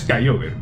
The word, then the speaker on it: Kyogre: La pronunciación es Kyogre.